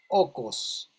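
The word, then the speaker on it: οἶκος: griega que se llamaba okos. El okos, o como se escribe en griego, oikos, recuerdan que hay un yogur griego, oikos, significa la casa, ¿verdad?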